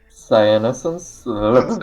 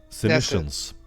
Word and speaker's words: Senescence: I can't pronounce it. Dyslexia. Cyanescence? Science? Senescence.